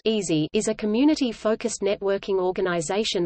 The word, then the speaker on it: EASI: Engineering and Applied Sciences Interest House (EASI), the EASI pronounced easy, is a community-focused networking